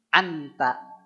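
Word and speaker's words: أنت: di depannya anta anta maka bacanya begini si lidah kita Ta di mana Pak cobi emot-emot ujung lidah nempel ke Pangkal dua gigi si atas pangkalnya ya jangan yang bawahnya tapi yang pangkalnya ini ta tempat tumbuhnya gigi kita itu maka pengucapannya begini ketika an itu udah begini Pak si lidah kita si ujung lidahnya udah siap-siap ngucapin ta ditambah dengan ghunah anta anta anta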